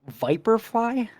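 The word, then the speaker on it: Viperfly: were saying it wrong Viper fly yeah like the snake yikes uh and they're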